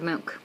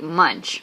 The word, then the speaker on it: Munch: It's by Edward Munch. But it's spelled like munch, but you say it Munch.